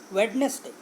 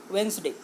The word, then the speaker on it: Wednesday: Many of the students pronounce this word as Wednesday. Actually, this is not correct. Here D is silent, so the correct pronunciation of this word is Wednesday.